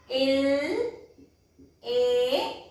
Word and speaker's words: il est: Il. A, that means E-S-T, il, that means E-S-T means is, L-A, E-S-T and we pronounce it as il-A.